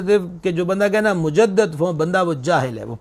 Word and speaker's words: مجدد: ملا۔ مجدد، ایک تو بعض لوگ یہ لفظ پڑھتے ہیں مجدد، یہ بالکل درست تلفظ نہیں ہے، صحیح نہیں ہے، لفظ ہے مجدد۔ میرے شیخ کریم جن